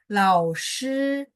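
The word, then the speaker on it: 老师: Nah, lao ini nada 3. Karena di belakangnya ada huruf lain, jadi dia bacanya nggak full. Kalau full tadi contoh hao, sampai sempat naik gitu kan ya. Tapi kalau lao shi enggak, dia langsung nyambung ke samping.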